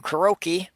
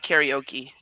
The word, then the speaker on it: karaoke: there's a couple of bars that like do kuroky okay so I'm mispronouncing it again oh I thought you did it on purpose I'm sorry I didn't I thought it was pronounced karaoke yeah I think you're right but anyway I